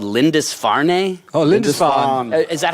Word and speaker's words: Lindisfarne: and a little psych folk but they're called lindisfarne Oh Linda is that how you pronounce it yeah okay so that's like pretty good Linda's fawn's like uh it's like an island isn't it